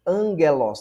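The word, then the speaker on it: ἄγγελος: Exemplo, Angelos. Tá vendo? Esse esse gama aqui você lê como se fosse um N.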